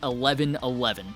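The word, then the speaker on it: IIII: So for this demo, I'm running all the tones through the Auto Audio 1111 is apparently how this is pronounced.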